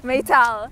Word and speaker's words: Meytal: Meytal. Oh, Meytal.